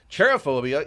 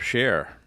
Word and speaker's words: cherophobia: Cherophobia is the irrational fear of fun, having fun, or happiness. I would have never guessed. I thought it was a fear of share. Because that's how it's spelled, C-H-E-R.